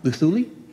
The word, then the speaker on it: Luthuli: Can you pronounce that for me? Luthuli.